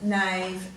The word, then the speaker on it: knave: So the silent K you'll see is often followed by an N. So let's read the words knoll, knave, knack, need, knapsack.